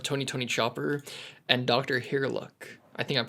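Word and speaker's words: Hiriluk: Herlock. I think I'm pronouncing that correctly.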